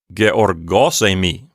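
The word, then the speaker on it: γεωργός εἰμι: And you can hear as I pronounce it, I'm putting the accent on the syllable gos and then less emphasis on the word emi. So it sounds like georgosemi.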